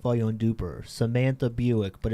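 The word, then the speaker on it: Buyck: pronounced like the car Buicks.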